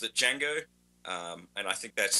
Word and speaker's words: Django: development so sense Joff is the D silent like in the movie The I believe it is okay I've always pronounced it D Jango um and I think